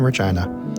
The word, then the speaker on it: Regina: The closest place similar to one like this is a couple hours away in Regina. And yes, Ben, that is how you pronounce the name.